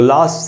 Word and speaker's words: least: तो लीस्ट में बड़ी ई जो है वहीं पर स्ट्रेस है, ये आप आई देख